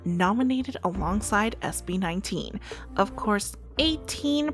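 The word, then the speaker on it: A'TIN: Of course, 18, pronounced like the number 18, SB19's fan club name, were super proud of their faves.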